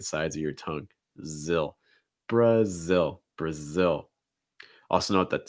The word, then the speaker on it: Brazil: to keep in mind our first one here brazil brazil a couple things here let's not see that brush out that schwa bruh bruh like in fun